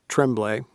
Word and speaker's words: Tremblay: we also all love Greg Tremblay which is how you pronounce that last name um okay yeah I